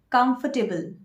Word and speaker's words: comfortable: of this word is comfortable. Comfortable, not comfortable or not comfortable. Look at the second syllable, that's foot. Comfortable.